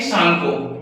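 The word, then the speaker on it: Tsangpo: वहां पे इसका नाम होता है भाई सांगको। क्या नाम होता है? सांगो। टी यहां पे साइलेंट होता है। हम इसे सांगो पढ़ते हैं।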